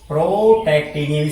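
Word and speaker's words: protactinium: प्रोटे नियम प्रोटे नियम क्या लिखेंगे प्रो टेक्नियम प्रोटेक्टिनियम स्प देख लीजिए पी आर ओ टी ए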